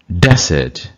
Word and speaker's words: desert: முதல் சிலபில் இப்போ உச்சரிக்கிறது வந்து என்றைக்கும் நவுனு, ரெண்டாவது சிலபில் உச்சரிக்கிறது verb. Conduct, conduct. Object, object. Subject, subject. Present, present. Desert, desert.